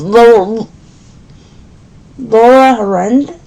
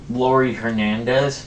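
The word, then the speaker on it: Laurie Hernandez: Oh, and my favorite gymnast is Laura Harand. Lori Hernandez. Yes, thank you. Couldn't pronounce her name.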